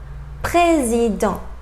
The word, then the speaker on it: président: Final T, petit, petit, étudiant, étudiant, président, président. So final S and final T, I didn't pronounce them.